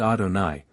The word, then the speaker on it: Adonai: come in this world the name is written yve and pronounced Adonai while in the world